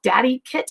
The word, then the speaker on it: DadiKit: And that's called Daddy Kit. It's spelled DADIKIT.